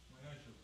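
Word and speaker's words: מעשר: Means 10th in the Hebrew, and it's pronounced Ma'asher.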